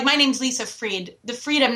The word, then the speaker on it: Friedt: And one of the biggest pet peeves that I have is when people pronounce my name wrong. And like my name's Lisa Freed.